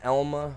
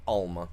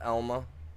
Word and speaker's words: Alma: Nope, have not played on Elma, Missouri. It's Elma, not Alma. Sorry, you guys. I live in a town called Elma, A-L-M-A, and it's pronounced Elma, not Alma.